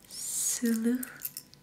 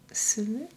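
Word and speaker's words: сұлу: Sulu. Sulu?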